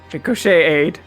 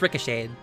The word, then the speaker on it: ricochet: corrected on a word the team Ricochet is silent Ricochet Aid it's just Ricochet Ricochet English is stupid I